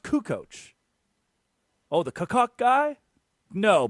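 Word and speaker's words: Kukoč: They don't even They They They don't even know it's pronounced Kukoc.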